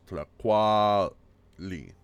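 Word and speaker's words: tlacualli: It's important to say that in Nahuatl, in Nahuatl, the stress is always on the second syllable. So, for example, here the word for food, tlaquali, tlaquali, yeah, is tlaquali. It's on the A there, yeah.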